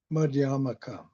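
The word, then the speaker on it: Madhyamaka: This brings me to Madyamaka Madyaka. I always the emphasis on the first syllable, but that's difficult for me for some reason.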